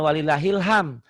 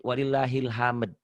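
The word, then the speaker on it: ولله الحمد: Bukan walillahil ham, tapi walillahil hamd.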